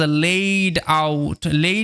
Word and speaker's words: laid: এই LAID দেখে অনেকে ভাবতে পারে যে এটার উচ্চারণটা লাইড না, এখানে AI আছে, তো ওই AI এর উচ্চারণটা এই এরকমভাবে হয়, এই, ঠিক আছে? লেইড এরকমভাবে, লেইড আউট মানে সাজানো।